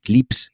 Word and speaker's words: CLPS: Y la NASA hace unos años creó un programa que se llama CLPS, CLIPS, lo pronuncian ellos, que es básicamente intentar